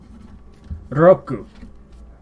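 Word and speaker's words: 六: Roku. Roku. That is how we pronounce 6 in Japanese.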